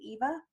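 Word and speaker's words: Yva: called Y VA and I think they try to pronounce it Eva I it doesn't look like even to me but anyway it's their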